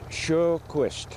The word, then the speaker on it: Sjoquist: My last name is spelled S-J-O-Q-U-I-S-T. And how do you pronounce it? I pronounce it Sjoquist.